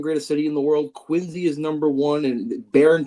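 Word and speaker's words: Quincy: Um and that's it's Quinzy, not Quinzy. People will will pronounce the C, but the the real balln knowers know it's a Z. So Quinzy.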